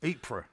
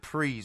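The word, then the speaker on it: Ypres: so in 1916 in priests that's spelled y-p-r-e-s apra yeah they don't pronounce it preez anyway anyway so the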